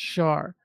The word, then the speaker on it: Schaar: His last name is Schaar. It is pronounced Shar. So It's like natural inclination to say it that way.